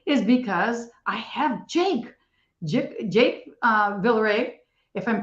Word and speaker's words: Villaret: Another reason that our podcast is super special today is because I have Jake Villaret, if I'm pronouncing it right. Villaret. Okay. Say it again. Villaret. Oh, you do pronounce a T.